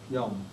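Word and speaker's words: יום: In Hebrew, for example, somebody was asking me, you say, who knows how to say the word day? A day. Day? Yom. Yom.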